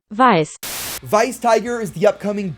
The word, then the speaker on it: Weiss: is going to be Vice tiger and before I get any YouTube comments it is vice not Weiss it's German it's just how it's pronounced vice vice tiger is the